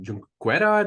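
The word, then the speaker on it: Junqueira: So you work with David Viles and Christina Junquera. Did I pronounce that correctly? Junquera.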